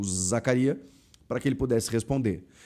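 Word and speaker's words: Zakaria: Zacária ou Zacaria ou Zacarias. É Zacaria, tá? Não tem s.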